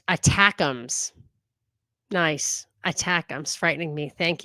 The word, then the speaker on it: ATACMS: will be up shortly the atacms are pronounced attacks nice attacks frightening me